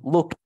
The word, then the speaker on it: looked: Looked. Con T, looked.